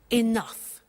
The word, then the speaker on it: enough: Now, this word enough, it's written E-N-O-U-G-H. The pronunciation is enough.